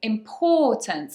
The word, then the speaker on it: importance: an or, it's an So you've got to make sure that you say importance and say that or sound, or like thought, like horse. Importance, okay, stress on the second syllable.